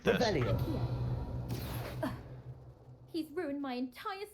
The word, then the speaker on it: Revelio: Rebellious. You're saying it wrong. Ugh, Revelia. Much better. Oh, shut up. It's Wait, like this. Revelio.